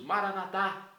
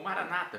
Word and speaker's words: Maranatá: E agora eu clamo do aramaico dialeto de Jesus, Maranatá, como nós católicos pronunciamos, ou Maranata, como dizem nossos irmãos separados das comunidades evangélicas ou protestantes. Não importa a pronúncia, o significado é o mesmo.